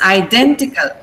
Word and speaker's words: identical: Identical. Ident. Stress is on den.